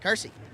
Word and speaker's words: Kersey: Kersey out of Elgin, Illinois, I believe is how it's pronounced.